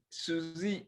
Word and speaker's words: Suisse: you've got the credit how do you pronounce that susie suzy it sounds like an uh a female name suzy but credit suisse group